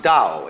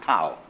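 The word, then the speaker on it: Tao: call tau that's pronounced Dao if it had an apostrophe after it it would be pronounced tau but now there's more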